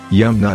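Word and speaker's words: Yeomna: Hindu mythology in fact yumna is the Korean pronunciation of Yama like every other powerful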